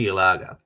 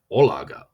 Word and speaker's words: Yalaga: My full name is Yalaga, or to be pronounced in Hungarian as Olaga.